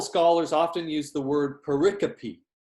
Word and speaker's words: pericope: often use the word pericope that's how you pronounce that pericope it sometimes when i type this microsoft word wants to change it to periscope but it's called pericope